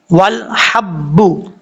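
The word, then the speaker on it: وَالْحَبُّ: ہجے کر لیتے ہیں پہلے. واو لام زبر ول, حا با زبر حب, والحب با بشبو, والحب. یہاں پر دیکھیں لام کے بعد ہا ہے اور یہ بریک ساؤنڈ میں پڑھا جاتا ہے.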